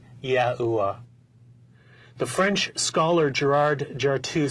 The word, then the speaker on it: YAHUAH: The sacred name of God was pronounced YAHUAH.